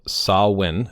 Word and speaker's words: Samhain: back to Celtic times when the celebration of sah-win, again, this pronunciation, marked the end of harvest and beginning of winter on November 1st.